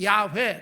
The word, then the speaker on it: 야훼: 정말 정확한 발음은 야훼.